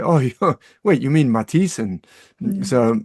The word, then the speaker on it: Mathisen: oh wait you mean Matisen. So they don't really say the th the same way.